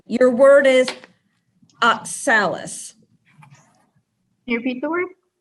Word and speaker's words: oxalis: pink or purple flowers with tin stamens oxalis oxalis am i saying that right you are oxalics